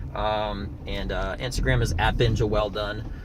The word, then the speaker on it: Welldone: n E and then comedy Instagram at Benja well done you know one thing about my name is